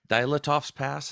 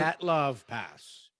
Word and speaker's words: Dyatlov Pass: I still think we were talking about, I don't know if you know much about the Dilatov's Pass. Is that how you pronounce it? Dyatlov Pass.